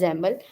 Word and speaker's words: XAML: know familiar with XML when I say xaml it basically is it's spelled out as x m a l right so it's pronounced as xaml it's and kind of